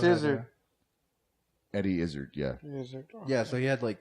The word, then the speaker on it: Izzard: The pronunciation. Oh yeah. I thought it was Izzard. And then he also. So it's Izzard.